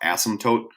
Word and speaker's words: asymptote: what's called an asymptote there's a P in there and you don't really say it it's pronounced asymptotes also kind of sounds